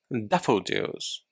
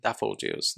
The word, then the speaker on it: daffodils: onions and wow this this is a difficult pronunciation okay so listen to me daffodils daffodils okay so again you can grow whole new plants from bulbs like onions and duffle juice daffodils is the name